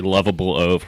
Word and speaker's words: Wuvable Oaf: So it's the Wuvable Oaf? Yeah, it's a funny made-up word. People have pronounced it different ways. They say lovable oaf, which is fine because periodization of lovable.